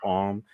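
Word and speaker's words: Ogham: M which is written like ogam but it's pronounced om I do pendulums charms conoman which is divination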